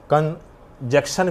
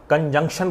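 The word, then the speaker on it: conjunction: इसको कुछ हमारे बंधु कनक्शन भी कहते हैं। वह गलत है। उच्चारण कंजक्शन बोलिएगा।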